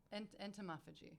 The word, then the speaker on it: entomophagy: Entomophagy.